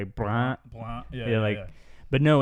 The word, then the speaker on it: brun: Brun. Pretty good. Not bad. And then in the Louisiana pronunciation, the brun would be more nasal.